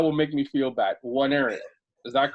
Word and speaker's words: Nwaneri: It's Nwaneri, so it's almost like a silent N almost.